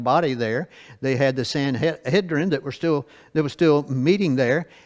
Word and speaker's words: Sanhedrin: in the New Testament, the Sanhedrin or Sanhedrin, depending on how you like to pronounce it. Sanhedrin is probably the right way because that's the way I pronounce it. So that's close enough.